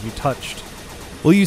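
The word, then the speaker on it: touché: French oh is it not supposed to be pronounced touche it is touche oh it's actually from the verb to share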